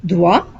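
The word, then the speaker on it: droit: then you would sayat the difference here is you say dwa you don't pronounce the T here but here you pronounce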